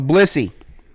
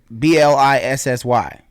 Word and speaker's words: Blissy: um all right so blissy blissy sounds it's it's it's spelled b-l-i-s-s-y but pronounce blissy same that's how whatever